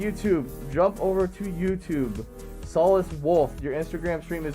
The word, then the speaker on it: Solis: I came up with the name Solis because Solis is how it's pronounced in Latin.